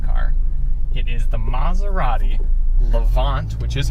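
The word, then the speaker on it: Levante: it is the maserati levant which is how you pronounce it it's not levanti it's levant um mazzari levant trafeo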